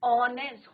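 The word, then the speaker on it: honest: Similarly an ऑनेस्ट, हॉनेस्ट नहीं होता है, एच इज योर साइलेंट।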